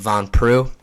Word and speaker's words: Von Prue: Johnson at Von Prue, that's spelled Von and then Prue like St. Prue, like the Von Flu choke, but Von Prue.